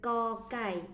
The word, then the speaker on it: ก: Mais le cocaille ici, si la consonne cocaille est à la fin d'un mot, là, c'est le son K. C'est le K sec.